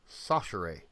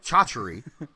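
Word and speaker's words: Chachere: named andre and he it's spelled c-h-a-c-h-e-r-e but it's pronounced sashirae sanchere i actually yeah it looks like chauchary but it's called it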